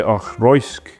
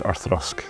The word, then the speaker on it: Auchroisk: Most people try Auchroisk, but as Kelly says, pronunciation is Auchroisk.